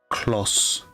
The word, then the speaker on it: Claus: It is pronounced claus. Claus a claw. A claws. Not close.